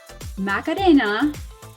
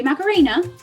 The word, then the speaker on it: Macarena: i have the lovely macarena really and i'm pronouncing it the spanish way but some of you guys will say macarena and um i met